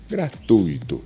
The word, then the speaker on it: gratuito: Existe um ditongo aqui e se diz gratui. gratuito.